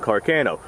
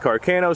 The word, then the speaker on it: Carcano: sporterized this right here I believe is a sporterized 1891 Carcano or Carino or however it is that you'd like to pronounce it I'm going to pronounce it Carano simply because that's how a majority of people pronounce it but I've been told that is incorrect now after smokeless powder had